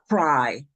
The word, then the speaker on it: CRRRi: CRRRi framework. Pronounced cry. I'm sorry? Pronounced cry. Oh, wow. It is pronounced cry.